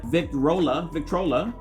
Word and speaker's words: Victrola: This is made by Victrola. That's the way you pronounce it.